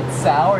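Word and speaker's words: Tso: it Zach work it is it pronounced General s or general so oh I think either I say s s so I've heard it so so you've heard it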